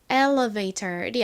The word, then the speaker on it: elevator: 아까 escalator에서와 마찬가지로 미국식 영어 발음으로는 여기서이 t를 좀 리얼처럼 꼬아서 발음하는 경향이 있습니다. 그래서 elevator이 아니라 elevator elevator 이렇게 발음을 합니다.